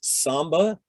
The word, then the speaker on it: SMB: let's talk about that smb is often pronounced samba and it stands for server